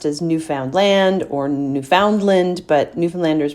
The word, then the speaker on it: Newfoundland: you are yes so newfoundland uh which is new found land and is often pronounced as new found land or newfoundland but newfoundlanders pronounce it newfoundland newfoundland